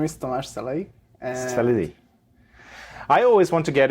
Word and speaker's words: Szelei: for me so my name is tomas saleh salidi i always want to get it to some